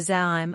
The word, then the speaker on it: Zaim: Doesn't the Zam have his children?" She mispronounced it. "Zaim." He corrected her. "Yeah, that. Zaim." She blinked, feeling stupid. "All their children died." "Yorzium." "Zaim," he again corrected her.